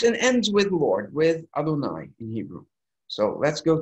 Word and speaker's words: Adonai: Some people translate it, it's pronounced in prayer as Adonai.